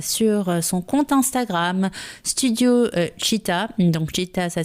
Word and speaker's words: Chitta: Vous pouvez suivre son activité et les différentes informations la concernant sur son compte Instagram, Studio Chitta, donc Chitta ça s'écrit C-H-I-T-A.